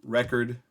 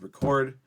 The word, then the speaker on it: record: Nouns are going to have it in the front, and verbs are going to use it in the back, in the second syllable. So we're just going to talk about a two-syllable word here of record versus record.